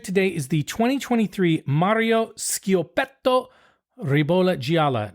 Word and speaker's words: Schiopetto: So the first wine we're going to drink today is the 2023 Mario Schiopetto Ribolla Gialla. Now, the Schiopetto is spelled Schiopetto. Remember, CH? Yeah, I was wondering. Hard sound.